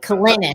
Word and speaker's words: Kalinich: Kalinich, like spinach.